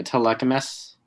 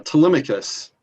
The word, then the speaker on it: Telemachus: or telecom to yeah telecoms okay i i'm going to accept that uh telemachus is yeah it's the pronunciation you're looking for but that was clear